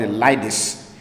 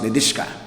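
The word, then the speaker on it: Lidice: c uh I mentioned it in Prague called liis and somebody you know corrected me said it's pronounced lishka uh that they there had been um an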